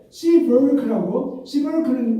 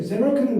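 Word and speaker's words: Seeberg: 이분은 아주 굉장히 강력한 분이시고 그분에 대해서 시버르크는 우리가 이 원어로 말하면 제벨크예요. 제벨크는 원어고 여기 시버르크는 영어식 발음입니다.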